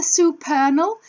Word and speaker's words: supernal: Father supernal to rhyme with eternal.